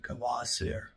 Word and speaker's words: Kvasir: I want to tell you a story about an unfortunate little fellow whose name is Vasier. Some people might pronounce it Kavasir.